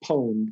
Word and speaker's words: pwned: yeah have i been it's pronounced pone p w n e